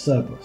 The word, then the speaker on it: Cerberus: Oh, so you pronounce it? Yes, Cerberus.